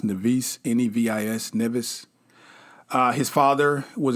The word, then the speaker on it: Nevis: He was born, they say they don't really know, either 1755 or 1757 in the Caribbean, the Isle of, I think it's pronounced Nevis, Nevis, Nevis.